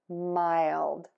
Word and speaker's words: mild: Then touch the tip of your tongue to the back of your top front teeth of that L. Ooh. And then pull it down D, so that that air can puff out for the D.